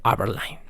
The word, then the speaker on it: Aberline: Ahora sí investigado y sí pronunciado como Aberline.